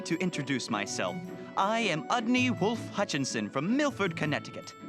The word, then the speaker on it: Udney: Didn't he say his name was Ugly? It was Udney, and you know it.